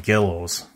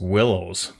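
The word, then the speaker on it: Guillow's: the willows kits and as a kid i used to call them gillows i always thought it was gillows but i guess it's actually pronounced willows but i'm going to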